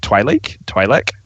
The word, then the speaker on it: Twi'lek: Like, I get not every Twi'lek is supposed to be Twi'lek. How do you pronounce it?